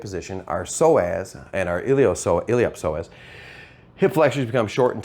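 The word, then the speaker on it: iliopsoas: Now the P is pronounced when it's in the middle of a word, it gets voiced, so it's called the iliop psoas. It's not the ilio-psoas.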